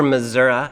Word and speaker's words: Missouri: We are on a retreat in Missouri, just outside or Missoura, as I'm told it can be pronounced.